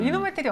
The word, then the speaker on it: 이노메트리: 이노메트리 어떤 회사입니까? 발음을 좀 조심하셔야 됩니다. 이노메트리 이렇게 끊어내기 이노메트리, 이노메트리. 잘못하면 욕처럼 들릴 수 있어서.